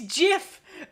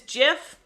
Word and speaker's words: GIF: behind my brain it yes it's jiff oh thank you lotus you are on my side it is jiff the creator said so that's thank thank you